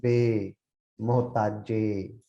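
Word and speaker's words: ਬੇਮੁਹਤਾਜੇ: But be mohtaje, this is a long a sound. Be mohtaje.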